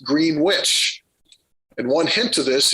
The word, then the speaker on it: Greenwich: as greenwich england but you don't pronounce this town as greenwich it's pronounced green witch and one hint to